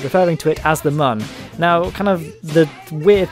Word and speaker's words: Mun: of the game is mu n which would be pronounced Mun kind of like how